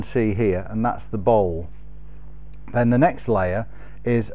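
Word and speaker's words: bole: What I've had to do is I've had to take all of the old finish off, and then I prepare a bowl. It's spelt B-O-L-E.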